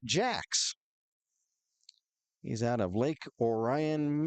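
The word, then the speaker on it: Jacques: a c ques but I was told by teammate con Connor Williamson that he pronounces it Jack he's out of Lake Orion Michigan is Andy Jack Buckey is trying to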